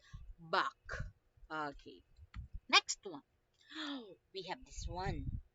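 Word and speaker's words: Bach: it back okay back I don't want to hear anyone saying it's batch ah it's not much but back okay next one oh we have this one we have 13.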